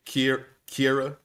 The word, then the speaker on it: Ciara: When she took that message from is it Sierra or Kira? How does she say her name? I feel like it's spelled like Sierra. It's Kira. Kira.